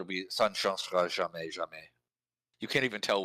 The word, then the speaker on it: jamais: It's the second syllable, Yeah. which is normal because French is always stressed on the last syllable.